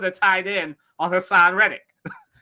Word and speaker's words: Reddick: So Reddick, is it Rhetoric? How do you say his last name? Reddick.